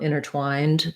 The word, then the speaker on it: intertwined: the ear interfere um so same thing for intertwined um intertwined that second t entwined will say the t but not this one and for intervene intervene